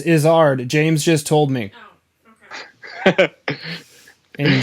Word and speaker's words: Izzard: very good comedian uh it's not is her dear it's izzard james just told me